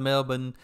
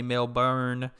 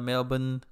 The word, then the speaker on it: Melbourne: the cultivated too, because when she pronounced Melbourne, she pronounced it the right way versus American way, which I was saying, if I look at it, I'll say Melbourne instead of Melbourne.